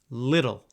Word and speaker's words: little: If you want to sound a little more American, you can say little. If you don't, say little. Either pronunciation is correct.